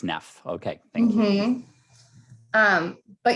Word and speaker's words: Naef: And not that I'm going to listen to you, but do you prefer your last name to be pronounced Neff or Naef? It's Naef. It is Neff.